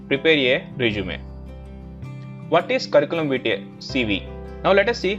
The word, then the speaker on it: Curriculum Vitae: But the right pronunciation is Curriculum Vitae.